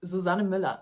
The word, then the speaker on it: Susanne Müller: In case anyone was wondering how you pronounce her name, it's Susanne Müller. It's a German name, or I don't know, is she from Germany?